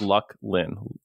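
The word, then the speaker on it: Luclin: you pronounce it and phonetically he told me it is luck Lynn luck space Lynn like your girlfriend Lynn and I was like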